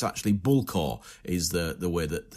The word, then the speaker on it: Bullecourt: the way how do we say this name bully C is how most Australians who who have not heard it's been spoken because that's what it looks like Bully C but it's actually bulla is the the way that uh we pronounce